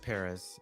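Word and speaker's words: Pérez: Yeah, so my cover would be George Perez, and Mm-hmm. just by the way, listeners, like the accent mark is over the first syllable of Perez, so that's what I'm saying it like that.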